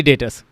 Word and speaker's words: debtors: डेप्टर्स में B silent है, डेप्टर्स नहीं बोलना है यहाँ पे, मतलब बी साइलेंट, सेंट्री डेटर्स ये बोलना है।